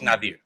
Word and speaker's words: Nazir: So in English, they just transliterated with the letter Z. So there's no Z in my name. There's no Z sound in my name. So, but it's Coach Nazir.